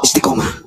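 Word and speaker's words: Istiqomah: kitabnya termasuk manhajul Isti istikomah ini bacanya istikomah tapi tujuannya untuk meremekan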